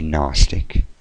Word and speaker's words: Gnostic: who created it um I am a gnostic and that is how you say it you are Gnostic gnosticism it is not agnostic as some people say or agnostic or and